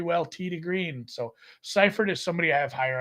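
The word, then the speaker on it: Seiffert: Not like Chase Seifert. I would say Seifert if I was pronouncing it because of So would I. the way the Germans use the E and the I.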